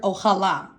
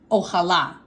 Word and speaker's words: ojalá: And our O stands for the Spanish word ojalá. I'll say it one more time for you. Ojalá. There should be an accent on the last A.